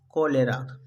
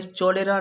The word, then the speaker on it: cholera: CHOLERA, कोलेरा। इसे हमें चोलेरा नहीं पढ़ना, हमें पढ़ना है कोलेरा।